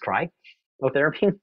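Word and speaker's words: cryotherapy: is you'll win and cry therapy should be PR pronounced cry therapy and five of you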